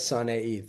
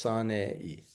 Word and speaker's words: Sanei: And my last name is Sanei, 3 syllables, Sanei.